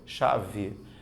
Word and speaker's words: chave: que eu escrevo né Na hora que saiu o som aparece apenas esses som de x certo o restante sai normal chave não é professor mas você colocou um e ali é porque o som dificilmente você pronuncia chá ver na fala o som ele fica fechadinho mesmo isso é natural até por